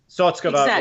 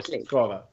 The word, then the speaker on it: Sotskova: It could go either way. So either on the first or second syllable. Sotskova or Sotskova. Okay. Sotskova or Sotskova. But in this Russian Nationals, I specifically listened very carefully for that, and everybody said Sotskova.